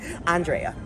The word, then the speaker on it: Andrea: Andrea.